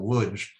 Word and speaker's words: Łódź: about what was like life in Lodz, where he was from, or to use the Polish pronunciation Łódź, there was, in his